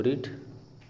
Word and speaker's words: writ: बात करें रीट, तो रीट इसका स्पेलिंग देख लीजिए, WRIT, ये होता है रीट।